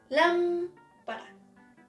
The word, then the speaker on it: lámpara: So, number 1, lámpara. Okay, you see this little thing here? So it's an accent, and you just need to intonate that syllable. So, lámpara.